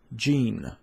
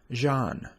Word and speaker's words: Jeanne: learn how to approach gene this is the American pronunciation the French pronunciation is a pronounced Jean you can purchase all